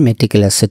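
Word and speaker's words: meticulous: খেয়াল করেন ম্যাটিকুলাসের তিনটি উচ্চারণ আছে। ম্যাটিকিউলাস, মিটিকিউলাস এন্ড ম্যাটিকিউলাস। আসল উচ্চারণটি ম্যাটিকেলাস।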